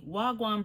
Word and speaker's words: wagwan: So you have to pronounce the A's like you're dragging out the A. That's why you have the A twice.